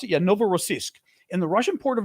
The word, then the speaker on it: Novorossiysk: Is that the way you pronounce it? Yeah, Novorossiysk.